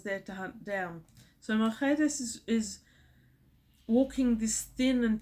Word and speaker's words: Mercedes: The housekeeper, Mercedes, and I love the way this is pronounced in Spanish. It's pronounced Mercedes. Mercedes.